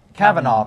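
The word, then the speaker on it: Kavanaugh: Supreme Court election uh what's how do you pronounce the name again Cavanaugh all right judge Cavanaugh has been the number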